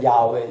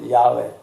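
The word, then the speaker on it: 야훼: 각인 시키시이 이제 사실은 그 하나님의 이름을 정식으로 발 발음하면 여호와가 아니라 야외 야외 예 근데 그 거룩한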